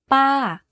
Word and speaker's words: ป้า: To say this tone, focus on pitching your voice to go slightly up first and then to fall down at the end of the syllable. Here's an example. ป้า aunt. You can hear from my voice that my pitch went up and then down very slightly.